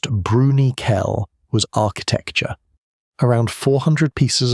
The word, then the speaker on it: Bruniquel: What they found in Bruniquel Cave, pronounced Bruniquel, was architecture.